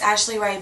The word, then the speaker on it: Ashlie Rae: It's Ashlie Ray, but it's spelled weird. It's ASHLIERAE.